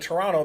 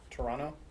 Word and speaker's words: Toronto: and notice I said Toronto because if you're from Canada you don't pronounce the second t for some reason Toronto Toronto Toronto if you're